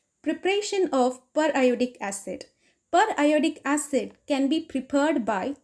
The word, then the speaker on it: periodic acid: of per iodic acid per iodic acid per iodic acid should be pronounced as periodic rather than periodic as in periodic table it was discovered by henrys gastey magnus and cf amerumula in 1833.